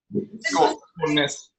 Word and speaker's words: Skaalnes: Skaalnes.